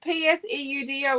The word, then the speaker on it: pseudo: Pseudo, P-S-E-U-D-O is pseudo. It's a silent P like psychology. P-S is a silent P, dude.